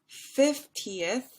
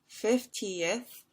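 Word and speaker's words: fiftieth: with syllables and length so 15th only has two units of sound two syllables 15th whereas 50th 50th has three so that 15th that two units down is going to be a little bit longer 15th 50th 15th 50th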